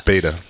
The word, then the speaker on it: Beto: Why do I like pronunciate people's names? It's Beto.